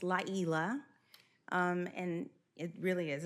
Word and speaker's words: Layla: So, it's not pronounced like it looks. It's called it's Laa. Um, and it really is a Swahili. And the Y is pronounced like an E and Swahili. So, it's Laa.